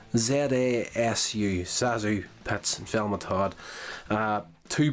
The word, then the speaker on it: ZaSu: uh basic idea of this short as uh zazu that's how you pronounce that name z-a-s-u sazu that's velma todd uh two best friends loving